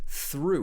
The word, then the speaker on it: through: the third word is through with ooh ooh this long vowel sound then we have sarah